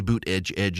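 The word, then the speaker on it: Buttigieg: we you know what bued jedge so the reason I say boot Edge Edge is because when he was running for president that's what his campaign said is is that the way you pronounce his name is boot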